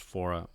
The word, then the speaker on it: Faure: So I believe this is from, I know this is on the CD pronounced Faure.